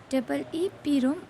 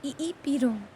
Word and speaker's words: EEPROM: EEPROM, pronounced EEPROM or EEPROM.